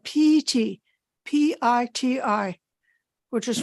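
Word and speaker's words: pīti: was using the poly word which is called PT p-i-t-i which is pronounced p-e-t not the English word piety okay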